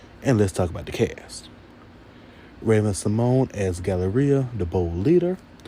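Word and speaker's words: Raven-Symoné: always think about um Ravena Simone and Agent Balone. And even though Raven has came out and said that we are have been pronouncing her name wrong is Raven Simone honey look at Raven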